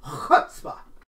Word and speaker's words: chutzpah: You gotta say chutzpah. Chutzpah. Chutzpah. I'm kidding. I don't speak Hebrew. But I think that is actually how it's pronounced.